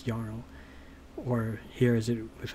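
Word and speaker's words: jarl: it's all everywhere that they pronounced the J like a y you'll notice that like yl right j a r l but it's yarl or here is it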